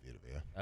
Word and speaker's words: Vita Vea: You just say Vita Vea.